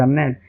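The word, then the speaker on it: gnaw: यहां जी साइलेंट रहेगा। इसलिए इसका मतलब होगा गिना। इसका मतलब गिना नहीं होगा। इसका मतलब होगा ना।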